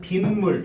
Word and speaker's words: 빗물: 그럼 여기에 분명히 니은이 없는데 니은 소리가 여러분들 발음되지 않습니까? 맞아요?